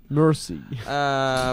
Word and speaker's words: Mercy: Sur la chanson Merci, avec un Y. Mercy. Prononcé à l'anglais, ça fait ça.